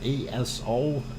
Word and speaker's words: Aso: ASO is how it is spelled. So do not mispronounce it.